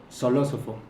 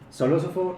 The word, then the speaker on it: Xolosofo: me enseñaron que la la x se pronuncia como es en ciertas situaciones es como soloso soló ofo okay tu tres meses en en enseñarme a solo soloso okay Bueno soló ofo nos visita el día